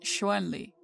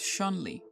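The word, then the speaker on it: Chun-Li: It is properly romanized as Shanli in pinion and pronounced Shuenli. Despite Westerners commonly pronouncing it as Shanli, the Japanese rendering of the name is Shunre.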